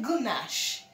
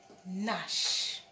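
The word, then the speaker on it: gnash: You're just going to say nash. Yes. You're going to say nash because the G is silent, because letter N is there beside it.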